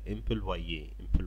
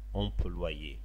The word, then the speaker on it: employee: بتنطق كده employee، دي كلمة اساسا فرنسية ودخلت للغة الانجليزية فبنطقها بنفس النطق الفرنساوي، اسمها employee.